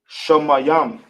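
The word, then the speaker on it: שמים: How we pronounce it in the ancient will be Shamayam.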